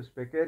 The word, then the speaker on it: specere: हम इंग्लिश में शायद इसको कुछ और तरीके से प्रोनाउंस करें, लेकिन लैटिन लोग इसको स्पेकेर ही प्रोनाउंस करते थे।